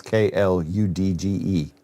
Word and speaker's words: kludge: How do you say How do you pronounce k l u d g e? And you know what it is, right? I say kludge. Really? Most of my life I've pronounced it like fudge. Kludge. Well, I mean, it's spelled like fudge, but this is English.